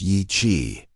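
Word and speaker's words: Yi qi: Yi-ki, pronounced Yi-chi, meaning strange wing in Mandarin, wasn't just another feathered dinosaur from the Jurassic.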